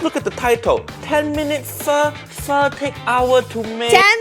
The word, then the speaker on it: pho: Vietnamese pho. It only takes 10 Pronouncing it wrong. Say with me, chat. Pho. So Not pho. It's Pho. pho.